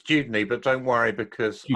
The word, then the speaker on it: Dudeney: And did I get the pronunciation correct? It's Dudeney, but don't worry because Dudeney.